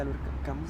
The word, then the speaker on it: Albert Camus: Albert Camus, no sé cómo se pronuncia Albert Camus.